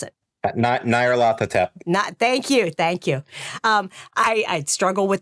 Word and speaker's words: Nyarlathotep: Yeah, I can never pronounce it. Nyarlathotep.